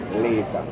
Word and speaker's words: Lazah: the spelling is L a z8h but I pronounce it laser